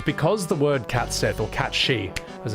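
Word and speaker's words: Cait Sìth: The problem with cats Sith is because the word catsith or cat she as it's pronounced is the Scottish indigenous language for fairy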